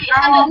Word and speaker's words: Hannah: No, it's Hannah. It's just the Danish spelling of Hannah. Yeah, that's what I mean. It's like Danny Wallace's old missus was called Hannah, and her name was spelled that way.